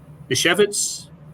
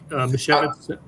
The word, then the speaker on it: Misiewicz: Anthony Misiewicz. Is that? I believe that's how it's said. Am I in the ballpark, Misiewicz? I believe so. I had somebody last night after I repeated it, the way they said it, and that was however many hours ago, and I'm sure that I would butcher it right now, but yeah, I think Misiewicz is one of those two is how you say it, and he's a left-hander.